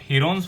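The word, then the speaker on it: Heron: और इसके एरिया को हम प्रूव भी कर चुके हैं हीरोन्स फॉर्मूला की हेल्प से। हीरोन्स की एक्चुअल प्रोनाउंसिएशन है हिरन्स फॉर्मूला।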